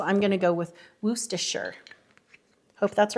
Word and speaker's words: Worcestershire: I think they said it's pronounced Worcestershire sauce. I've always said Worcestershire sauce, and that's how I was corrected.